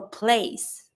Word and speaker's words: place: Same for place. Place, I say. I don't pronounce my last E, but because there's a E after my C, I'm going to pronounce my C with the S sound.